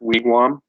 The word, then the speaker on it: wigwam: so and then uh if you hear a wigwam it should be pronounced wigwam that's that's how we say